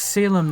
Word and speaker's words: SALEM: in September oh yeah I'm actually pronouncing it as Salem now guys y'all could start